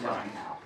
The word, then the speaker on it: sin: So to do that, you have a little SIN button, sin or sine, that's pronounced sine.